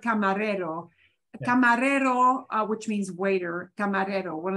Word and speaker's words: camarero: two words for Raider camarero uh uh has two r's in it but they're both in the middle so they're both a single flap single flap yeah yeah and you